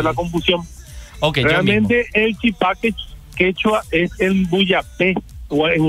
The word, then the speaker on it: chipá: decir el chipá, la chipa, chipá? ¿Cuál es la pronunciación correcta? La pronunciación es el chipá.